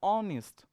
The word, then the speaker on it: honest: And sound is honest. So it starts with a. S is silent here. S is silent here. So we are going to use according to the a.